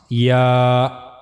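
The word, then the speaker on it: ياء: Middle of the tongue will touch to the roof of the mouth. So that's how you can easily pronounce yah.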